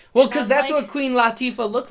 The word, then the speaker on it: Latifah: her name is Queen Latifah it's not good is lotta Queen Latifah clean let's see I think I pronounce it Lottie for though no it's not luck it's not low its Lottie for so yeah you see